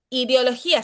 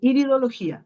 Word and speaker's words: iridología: El tema del ver el iris, ideología se llama, ¿cierto? Sí, iridología, iridología. Iridología, mira, ya lo estaba Sí, es pronunciando mal.